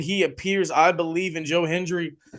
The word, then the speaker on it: Joe Hendry: It ended up being Joe Hendry, Yes, or Joe Henry, as Michael Cole kept calling him.